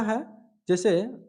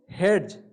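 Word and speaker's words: hedge: लेकिन इसमें हम लोग डी को साइलेंट करके पढ़ना है तभी तो, क्योंकि हेड्स अगर हम लोग पढ़ रहे हैं तो गलत पढ़ रहे हैं। सही हम लोग को क्या होगा, इसको सही उच्चारण क्या करेंगे, हेज।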